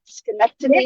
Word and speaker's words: Schenectady: Chelsey from Schenectady, did I say it right? Schenectady, Yes.